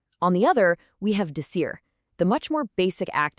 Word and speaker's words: dizer: It's actually not a hard D sound at all. It's much softer, more like a J. It's pronounced dizer.